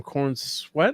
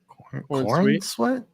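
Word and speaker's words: Corenswet: Is it how you say his name? Corn Sweat or Sweet? Corn Sweat.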